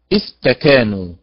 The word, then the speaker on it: استكانوا: يعني مثلا استكانوا، وسط الكلمة تكا، هكذا ننطقها، استكا تكا، وليست استكا، استكا هكذا.